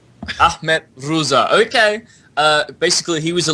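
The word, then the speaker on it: Rıza: Is it the I with no dot, or is it the I with the dot? It is the I with no dot. It's Reza. Ahmet Reza.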